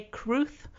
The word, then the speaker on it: crwth: wales this is a cruth um spelt crwth uh but pronounced kruth because it's welsh um this instrument was